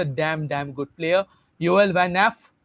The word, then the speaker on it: Nieff: Joel van एफ, ये pronunciation कुछ ऐसा ही होगा क्योंकि योएल वैन एफ, क्योंकि हम NIEEFF को प्रोनाउंस ना करके न्याफ बोल सकते हैं।